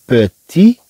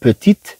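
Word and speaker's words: petit: بيتي روني اي مالاد، بيتي، بيتي، طبعا هنا لا ننطق هذا الطي، لا نقول بيتيت الا في حاله الا ضفنا او.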